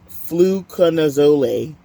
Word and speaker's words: fluconazole: What's fluconazole?